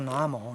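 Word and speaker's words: 南无: 你看读作南无，南无是皈依的意思，皈依。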